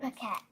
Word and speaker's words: Paquette: You know how to say it? Paquette.